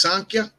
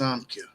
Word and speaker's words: Samkhya: Sometimes it's pronounced Sankhya, but here it's pronounced Samkhya.